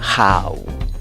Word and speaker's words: how: La H que ves en los símbolos fonéticos se pronuncia como una J, la A como una A y la U como una U. Entonces, ¿cómo pronuncias esta palabra? How.